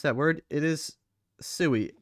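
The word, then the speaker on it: sui: You don't know how to pronounce that word. It is sooie.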